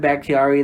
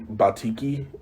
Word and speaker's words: Bakhtiari: they have, since David Bakhtiari, their left tackle, was out. Thank God you could say his name, because I botch it every time. Yeah. I think I called him Batiki. Like, God.